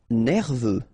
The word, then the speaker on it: nerveux: Nerveux. Final X not pronounced. E-U, E, V. Nerveux.